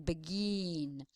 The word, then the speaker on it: begin: or the last one we say begin right we can ext extend the last syllable begin we cannot say be and that's how we know that the last syllable is the stressed one the syllable that we can extend again begin.